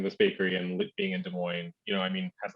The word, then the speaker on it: Des Moines: in okay i'm going to say it right des moines yes uh-huh okay i was like the asses